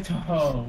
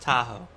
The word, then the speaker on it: Tahoe: Chevy Toho with the power in space to take blank everywhere you go.